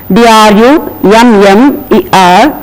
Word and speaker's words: drummer: in a lighter manner d r u m m e r drummer again it is a very light pronunciation it is not the